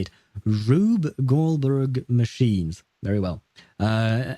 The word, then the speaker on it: Rube: Uh Ruth um uh oh it's rub Goldberg machines. Okay, that's how you say it. Rube Goldberg machines.